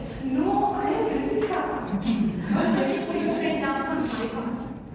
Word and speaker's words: Hrithika: My parents with their awkward, award-winning smiles would clarify and say, "It's just Hrithika, that H is silent."